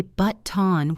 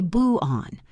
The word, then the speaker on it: button: We rarely say button with a sharp t. We say boo on. We stop the air in our throat.